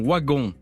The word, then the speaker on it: Wagon: dit je suis marion waggon marion wagon comme le prononce les gens du nord et comme on le prononce dans la famille wagon je suis marion waggon